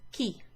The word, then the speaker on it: chi: or an akka so h c h i is a key key that's the word who if you put